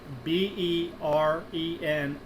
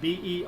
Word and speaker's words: Berenstain: It was never spelled Berenstein, Berenstain. It's spelled Berenstain, Berenstain Bears. And some people have, for their whole lives, always grown up as Berenstain, the Steen instead of Stain.